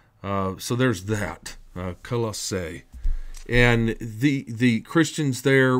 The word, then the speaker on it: Colossae: that's colise and um you know we've got colossae and that's probably the best way to pronounce it you've got coliseum and then people